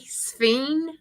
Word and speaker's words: Sphene: It's SPHENE. That's the one I said, the one with the funny spelling. I Yeah. call it I tell you what, Yeah, it's it's like spleen.